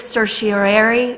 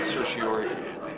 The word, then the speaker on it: certiorari: It is hereby moved that the city land use attorney commence a writ of certiorari appeal of Board of Adjustment decision in case number 18-12-CU.